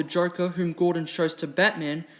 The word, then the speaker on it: Batman: under legal action by the city of Batman in Turkey, which is actually pronounced Batman.